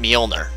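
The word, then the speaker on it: Mjolnir: step was the molner armor yes it is pronounced molner it is named after the mythical mythological Hammer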